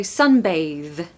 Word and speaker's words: sunbathe: like paradise pronunciation tip we've got a really strange sound in this one so it's like the sound in the the so sunbathe sunbathe okay you're not gonna do a breathy Airy th no it's a voiced th so sunbathe sunbathe stress